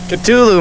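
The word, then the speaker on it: Ktulu: yeah how do you how do you pronounce the instrumental on the second side of Ride the Lightning the exact pronunciation culu man I was right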